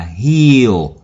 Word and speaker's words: heal: Thì âm của nó là âm y dài là heal, heal.